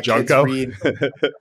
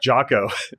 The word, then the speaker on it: Jocko: I have my you just call him Junko? Is it Junko? Is it Jocko? How do you say his name again? Junko's your garbage man. Jocko.